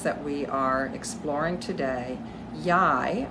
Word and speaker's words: Yhi: we are exploring today yai I believe that's how we pronounce it she is an